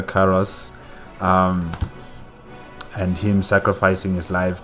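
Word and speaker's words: Karass: the um high templar caracaras what karas yes carlos sorry i think i pronounced his name wrong there yes but high templar karas and him sacrificing his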